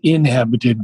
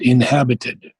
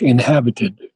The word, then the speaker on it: inhabited: the lines um inhabited it's not inhabited but inhabited so the accent is on the h inhabited and the only other